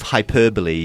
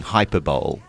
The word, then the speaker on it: hyperbole: called these words and instead of hyperbole she was singing hyperball oh dear hyperb didn't